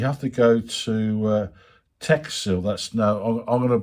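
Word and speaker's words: Techsil: uh Uh, you have to go to uh Tech Seal. That's now I'm I'm going to put the thing caption underneath, but I'll spell it out anyway. T E C H S I L. Tech Seal, and they're based in Bidford-Upon-Avon.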